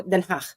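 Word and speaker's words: Den Haag: So ngayon yun na pronunciation na Denhach. So Denhach. So So just feel like you are expelling FL very lightly and very um soft den ganon.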